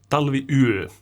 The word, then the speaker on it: Talviyö: Talviyö, like we say in Finland.